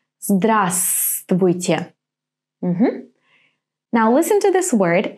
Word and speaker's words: Здравствуйте: For example, our famous «Здравствуйте». Здравствуйте. Now, which letter is not pronounced here? Здравствуйте. Right, this V. Здравствуйте.